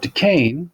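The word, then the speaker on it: Duquesne: the virginia militia and fort de caine which is how you say this funky word to king general braddock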